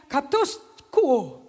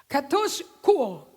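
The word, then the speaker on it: katischuo: Kata katus kuo, bacanya katus kuo, tulisnya katis kuo.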